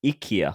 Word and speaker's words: IKEA: I do need to just interject here correct pronunciation is Ikea oh oh you have been watching the adverts